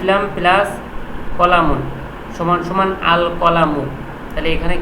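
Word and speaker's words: الْقَلَمُ: বা হরফটা আছে বা হরফটা কি কমারিয়ার হরফ আল কলামু তাহলে কফটা যে উচ্চারণ হচ্ছে এই কফটা উচ্চারণ হচ্ছে এই কারণে আল কলামু লামটা উচ্চারণ হওয়ার কারণে কফ শব্দ হরফটা হল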